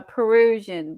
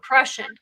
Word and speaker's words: Prussian: No, a Perusian blue. Prussian. Prussian. Prussian. Prussian. Prussian. Prussia. It's pronounced with an I and it's a U.